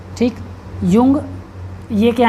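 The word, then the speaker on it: Jung: दिया है ठीक है इसका spelling J यू एन जी ही लिखा हुआ है तो कंफ्यूज नहीं होना है ठीक युंग यह क्या है इन्होंने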